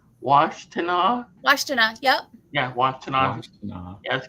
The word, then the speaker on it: Washtenaw: Yeah, some of them have grave sites in, I can't really pronounce this town's name, Washtenaw? Washtenaw, yep.